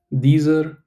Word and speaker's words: dieser: To be honest, I will not pronounce this as dieser. I'll just say dieser. I'll pronounce this one also the same as way as I'm pronouncing this one, because at least in the city where I live, when there is a word in German ending with R, we don't emphasize that specific alphabet, that R alphabet at the end of a word.